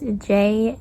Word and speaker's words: Juanita: Juanita is spelled with a J. It's Juanita.